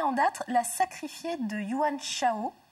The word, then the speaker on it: Yuan Shao: date la sacrifier de wang chao je prononce bien une once le haut je prononce pas à la chinoise c'est le roman d'un